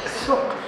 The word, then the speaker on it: Souq: Ito yung pronunciation mo. Souq. Stuya. Sook.